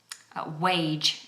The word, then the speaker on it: wage: I hear a lot C wage is another important one wage your how much you get paid wage your wages is okay so just make sure they've got aive plosive sound to it um okay so some